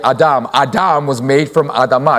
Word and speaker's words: Adamah: is Adam, and then the word for ground is Adamah. It's literally just a syllable at the end. So you take the away and you get Adam. Adam was made from Adamah.